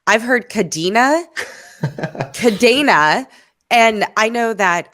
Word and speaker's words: Kadena: is based on the Spanish word for chain which uh starts with a C instead of a k c a okay e-n-a and so my recollection is that we decided to say the Spanish pronunciation is the one that we are going to go with which would be kadena um but I think